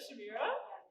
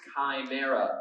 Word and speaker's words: Chimera: Did you say the Chimera? Yes! Alright! It's actually pronounced chimera with a hard K.